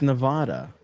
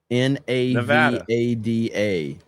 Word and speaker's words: Nevada: It's Nevada. Nevada. Navada.